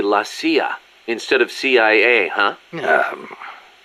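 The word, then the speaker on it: la CIA: around here they say lasya instead of CIA huh yeah nothing strange about it that's how it's pronounced when you read it in Spanish it has the feminine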